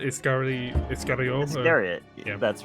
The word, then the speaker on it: Iscariot: Is that how you pronounce it? Iscariot? Iscariot.